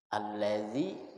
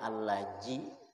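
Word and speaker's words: الذي: Siratal laji, seharusnya si, dibacanya sirata. Allazi dibacanya allaji. Maka nahab iya kana apa siratal laji, huruf zi dibacanya ji pakai jim.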